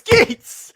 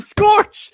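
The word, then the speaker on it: Skeets: a certain voice SKS his name is SKS stop calling him Scorch for those you that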